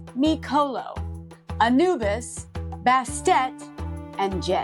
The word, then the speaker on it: Mikolo: Before we lift some pronunciations, it's Micolo, Anubis, Bastet, and Jed.